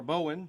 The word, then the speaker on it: Bowen: us mr gerald r bowen am i pronouncing your last name correctly mr bowen yes there you are all